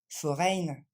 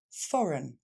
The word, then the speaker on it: foreign: what pour traduire étranger on ne va pas dire foreine mais foreign un pays étranger for on reprend for run ok ce e i G n va simplement se prononcer for encore une fois for dernière fois forign et on va finir